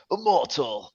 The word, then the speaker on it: Immortal: Um we got we had we had Immortal. Sorry. When you say immortal, you got to say it like like a gaming way like immortal.